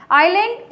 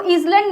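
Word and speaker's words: island: Group of आइलैंड्स, आइलैंड इसको ईजलैंड नहीं बोलते हैं, इसकी प्रोनाउंसिएशन होती है आइलैंड, एस जो होता है साइलेंट होता है, उससे पहले भी हम क्या लगाते हैं, द लगाते हैं।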